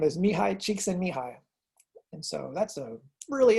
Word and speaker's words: Mihai Csikszentmihalyi: His name is Mihai Csikszentmihalyi. And so that's a really interesting pronunciation for all those letters together. And so that's what it says, Mihai Csikszentmihalyi.